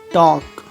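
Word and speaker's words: talk: एल, यदि किसी शब्द के अंत में एल के या एल एम साथ में आ जाए, एल के या एल एम, तो ऐसी कंडीशन में एल का उच्चारण नहीं होता, जैसे वॉक, चॉक, टॉक, palm, balm, काम, ऐसे वर्ड में एल का उच्चारण नहीं हो रहा है, ओके।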